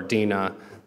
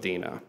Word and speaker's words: Dinah: so this story's about a woman named Dinah or Deena there's multiple ways you can pronounce a lot of these names I'm gonna go with Deena if you take a